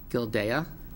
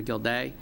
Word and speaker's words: Gildea: Jill Gildea, pronouncing that right? Gildea?